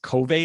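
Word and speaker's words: Covve: apps for that are i guess it's pronounced cove so c-o-v-v-e which is for android and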